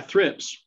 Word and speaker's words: thrips: roses are thrilled say again i think it's pronounced trip t-h-r-i-p yeah thrips okay thrips um are very common on roses